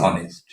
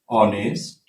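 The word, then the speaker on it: honest: অ্যাফার্মেটিভে বলছে হি ইজ অনেস্ট, হি ইজ অ্যান অনেস্ট ম্যান, তিনি একজন সৎ লোক। তোমরা আর্টিকেলে নিশ্চয়ই দেখেছো অনেস্ট কনসোনেন্ট হওয়া সত্ত্বেও এইস, আসলে এইস এর হ উচ্চারণ না হলে এখানে আর্টিকেল অ্যান বসে, এ বসে না।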